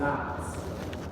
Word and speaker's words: knots: Those are called knots. Knots are K-N-O-T-S. So not N-O-T-S, but K-N-O-T. It's a silent K on it.